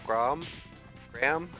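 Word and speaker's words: Greham: But I call him Graham, like a graham cracker.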